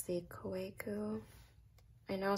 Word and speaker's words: Kaweco: So it's the Kaweco. I know some people pronounce it Kaweco, Kaweco. I think in German the W is pronounced V.